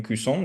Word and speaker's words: cousin: Entonces, por ejemplo, en cuisson, en primo, como no, la palabra no termina con una E, uno casi que no pronuncia la N, uno dice cuisson, le cuisson, el primo. Pero con la prima, que es casi la misma palabra, pero esta vez termina en E, uno dice la cuisine. Entonces, si ven que ahí